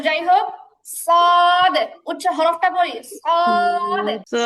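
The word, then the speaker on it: ص: তারপরটা দেখি তারপরে হচ্ছে সদ একই 12 নাম্বার জিহবার আগা নিচের দুই দাতের পেট আগার সাথে লাগিয়ে তো উচ্চারণটা হতো শক্ত হবে বাতাস বের হবে না আর সদ হচ্ছে সদ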